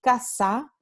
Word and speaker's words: casa: con la interdental sorda, y casa, esta segunda palabra, se va a pronunciar con la fricativa alveolar sorda.